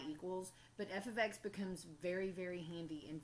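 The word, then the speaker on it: f(x): notation which looks like this and that is pronounced F ofx because what it means is that I have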